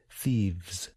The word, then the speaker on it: thieves: when you pronounce it thieves ends with two consonant sounds V these are both voiced consonant sounds you should feel your